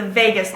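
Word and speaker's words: vagus: sensory and motor nerve number 10 is the Vagas nerve and it's not spelled like Las Vegas Vegas v a g u s it exits the skull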